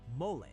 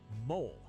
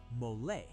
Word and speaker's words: mole: And it's not pronounced mole. It's two syllables. Say mole.